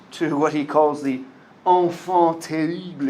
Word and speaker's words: enfant terrible: what he calls the enfant terrible. It's French, so that's how you say it.